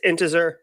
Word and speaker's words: Intezer: One, good on Intezer. He pronounced it Intezer. It's Intezer. I know because I use